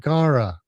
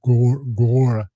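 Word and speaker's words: Gaura: But the Gaillardia and Echinacea and Gara, I think it's Gora, the way it's spelled. Gara, I call it, but it's not Gaugru, Gara.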